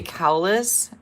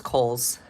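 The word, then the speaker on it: Kohls: Sparkle Sparkle and she Julie I always say cowes and it's Kohl's thank you if I say it wrong again you remind me Kelly I gave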